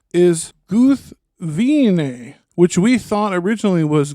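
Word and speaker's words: Gúthwinë: most people pronounce it guthwine but it's supposed to be what three syllables right three syllables yeah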